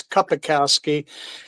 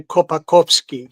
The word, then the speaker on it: Kapakowski: It's Kapakowski, but the Polish people say Kopakowski, because they want to act like they're special or something.